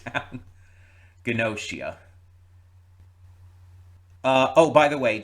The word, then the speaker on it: Gnosia: Also, I'm glad that they said it enough times that I I do have the pronunciation down. Gnosia.